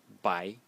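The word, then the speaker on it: 白: And then the bottom element, let me change the color, which is this one, which is pronounced bai in the second tone, and it means white.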